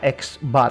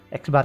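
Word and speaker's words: x̄: dengan XL yang diatasnya ada garis ini bacanya eksbar Ya eksbar ini sama dengan data satu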